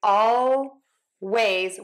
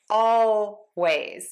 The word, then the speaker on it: always: You can, of course, say ˈɔʊ˜weɪz with a true L. ˈɔʊ˜weɪz.